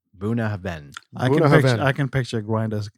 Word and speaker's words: Bunnahabhain: website I'm hearing that the BH sounds like a v in Gaelic grinder would be very proud here and he would know how to pronounce this buah Haven is how they're saying